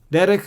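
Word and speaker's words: דֶּרֶךְ: In both cases, you have this Shwa under the Chaf, and that is not pronounced. Why? Because it occurs under the last letter.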